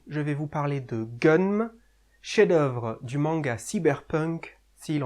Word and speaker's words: Gunnm: Bonjour à tous, aujourd'hui je vais vous parler de Gunm, chef-d'œuvre du manga cyberpunk s'il en est. J'ai vu tant de choses que vous, humains, ne pourriez pas croire. Voilà, ce genre-là. Gunm, prononcé Ganmu en japonais, pourrait se traduire par rêve d'une arme.